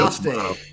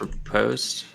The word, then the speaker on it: riposte: I think Riposte. Malicos gets riposte. Yeah. That's right, he does. You guys know you're saying it wrong, right? I don't care. Riposte. Like it's riposte. Like it's paste.